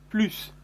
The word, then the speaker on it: plus: aussi fait attention remarquez on ne prononce pas le s de plus plus pl us pour les